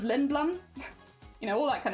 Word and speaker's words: Lindblum: is she talking about libelium instead of lindblum you know all that